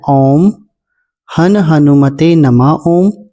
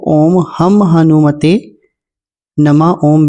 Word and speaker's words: ॐ हन हनुमते नमः ॐ: मंत्र है व है ओम हन हनुमते नमः ओम या फिर कई इस मंत्र को ओम हम हनुमते नम ओम भी कहते हैं दोनों ही उच्चारण में ठीक हैं मैंने थंबनेल में लिख